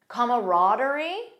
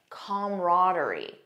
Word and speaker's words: camaraderie: Notice the first pronunciation has an extra sound comma. Comaraderie. The second one just says come. Com camaraderie. Most American speakers in my experience say camaraderie. That's the one that I personally use.